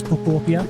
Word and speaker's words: Pokopia: That is how you pronounce it. It is Popia.